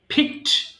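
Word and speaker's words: fixed: সো ফিক তোলা ফিক ফিকড ফিকড আবার এটা কিন্তু ফিকেডও হবে না ফিকড এবার আসি রিমার্ক মন্তব্য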